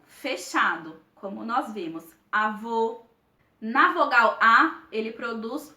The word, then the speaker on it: avô: vamos pronunciar essas palavras o acento circunflexo ele indica uma sonoridade fechada nas vogais e o por exemplo você o avô percebam que a pronunciação dessas palavras deu-se de uma maneira fechada a gente percebe nitidamente